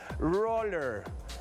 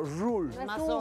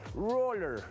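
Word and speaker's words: ruler: en inglés se pronuncia Roller como si fuera con una o como si te fueras de rol no se pronuncia tal cual como rule es un poquito más como Roller y se escribe de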